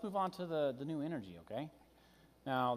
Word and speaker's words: Energí: Let's move on to the new Energí, okay? Now, there will be no dollars because it's pronounced the same, Steve, okay? So you're... Yeah, Energized. Energí, but...